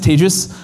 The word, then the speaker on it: Tejas: name is tagus um that's pronounced like contagious um unfortunately this got me a lot of trouble during the pandemic um as you can imagine had to switch and do something like advantageous um but anyway I